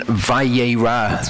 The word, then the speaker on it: Vayera: Okay, so Torah Portion Vayera, that's how it's pronounced.